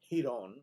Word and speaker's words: Giron: name as G-Iron although my last name is pronounced Hon like a H.